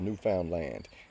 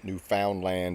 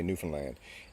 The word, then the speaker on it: Newfoundland: It's called Newfoundland, and that's how you pronounce it. Newfoundland is what people say. We say Newfoundland, and it was colonized at first by the Vikings, Leif Erikson.